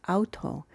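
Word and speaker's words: αὐτό: Enos Auto this first four characters here is pronounced Auto which means self or sometimes same and it's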